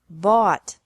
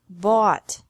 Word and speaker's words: bought: bring brought brought buy bought bought catch caught caught fight fought fought seek sought sought teach taught taught think thought thought remember that the g is silent in these verbs verbs with three different